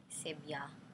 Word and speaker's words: Sibia: So her name, Sibia, rhymes with Tibia.